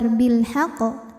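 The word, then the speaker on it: بِالْحَقِّ: Untuk membedakan dengan qalqalah yang tidak ada tasydid, maka dibacanya agak berbeda karena pantulannya dikeluarkan ada telatnya ya, telat dulu karena menyempurnakan tasdidnya. Jadi tidak langsung keluar bilhaq, tidak, tapi melainkan kita tahan dulu bilhaq.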